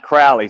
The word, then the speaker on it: Crowley: It's actually pronounced Crowley, so it sounds like it's an A, but it's I say Crowley, but I mispronounce it well.